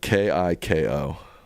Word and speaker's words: Kiko: It's spelled K I K O pronounced Kiko.